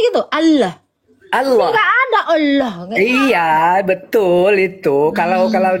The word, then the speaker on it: Allah: Terdengar enggak ada seperti O-nya. Ini yang Arab. Arab asli dia. Allah. Allah. Dia bilangnya gitu. Allah. Allah. Enggak ada. Allah.